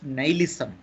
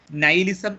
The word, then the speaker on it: nihilism: So that means Nietzsche was a philosopher of nihilism. Nihilism, N-I-H-I-L-I-S-M. Nihilism. The pronunciation is nihilism, not nihilism. Nihilism, N-I-H-I-L-I-S-M.